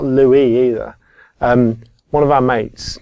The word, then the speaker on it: LUIS: And I keep telling him it's Louis.